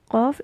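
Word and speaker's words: قاف: Put a sukoon and pronounce it like aq, aq, qa, qa, qi, qu. It's more back, very much back.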